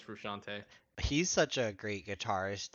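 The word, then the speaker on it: Frusciante: right the guitar yeah i think it's technically frustrante but everyone says frushante he's such a great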